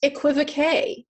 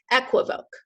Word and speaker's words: equivoque: is the way it's spelled it is not pronounced equivocae though when you use it for magic it is pronounced ek okay just like that phonetic pronunciation down there below it equivoque equivoque means a phrase that can be taken